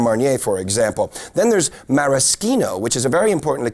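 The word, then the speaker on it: maraschino: for example then there's mariskino which is a very important leure for cocktails and that's from the morasa cherry and yes that is how it's pronounced in Italy which is where it comes from well now for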